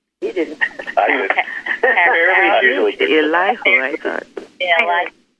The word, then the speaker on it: Elihu: Maybe if someone looked up how to pronounce his name, could tell us how to pronounce his name. You didn't. I did. Elihu, I thought. Yeah, Elihu.